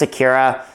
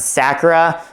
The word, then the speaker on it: Sakira: Yes, I pronounce Sakira. I've seen people pronounce it Sakura, but I think Sakira is a definitive pronunciation.